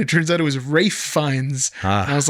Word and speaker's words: Ralph Fiennes: It's actually pronounced Rafe.